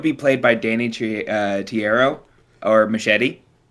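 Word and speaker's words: Trejo: Well, either way, I would be played by Danny uh Tiierro or Machete. Danny, Leonardo DiCaprio. Yeah, I I don't know how to say his name. I think it's Treyo.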